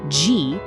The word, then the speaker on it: ji: It's pronounced ji.